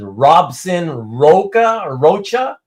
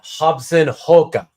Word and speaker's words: Robson Rocha: back, the Brazilian artist who you would probably pronounce as Robson Rocha, that's really pronounced Robson Roca.